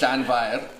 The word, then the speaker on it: Llanfair: So it's Llanfair, and the F is quite hard, so it's Fair, Yeah, F is a V. and you roll your R's. Oh, God, I'm not good at rolling R's.